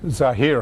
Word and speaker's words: Zaher: How do you say your first name again? Zahir. Zaher? And you would think I would know that by now. No, you pronounced it correctly.